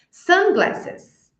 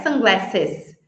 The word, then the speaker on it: sunglasses: Essas palavras que são compostas, nós vamos pronunciar com ênfase, a sílaba tônica vai ser a primeira.